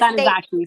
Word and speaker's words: Tanizaki: Junichiro Tanisaki. Tanisaki. Yes, Tanizaki. Sorry, Tanizaki. Yeah, they've written a book called Tattoo, which also featured the Jorōgumo, and then The Spider by Hines Ewers.